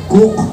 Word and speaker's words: Coke: ni sir Edward cook Hanapin niyo ang spelling ng cook Coke Hwag niyo ng tanong kung sino nagco pero sir Edward cook ang pagpronounce niyan Ang sinabi niya a